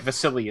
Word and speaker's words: Vasily: And you're right, Vasily is actually how that's pronounced, Todd.